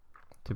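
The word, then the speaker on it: 七: So this is number 6, and as you can see, the characters are quite simple to write, and 6 is pronounced as 6.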